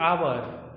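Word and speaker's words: hour: जैसे आवर, जैसे एच ओ यू आर, आवर means घंटा होता है, हम लोग इसे हावर नहीं, एच साइलेंट होता है, इसे आवर कहते हैं, तो इसके पहले भी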